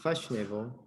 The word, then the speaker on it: fashionable: like fast fashionable first no you don't pronounce the a fashionable fashionable uncomfortable comfortable practice